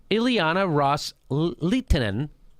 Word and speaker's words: Ileana Ros-Lehtinen: the Sunni Arab states had made to representative Ileana ros-lehtinen that's how you say her name quote with